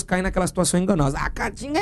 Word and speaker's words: Caatinga: Lembrem da pronúncia e da própria grafia, Caatinga, não é Caatinga não, aquele com A só, que o pessoal fala quando as pessoas estão com aquela suvaqueira, faltando um desodorante.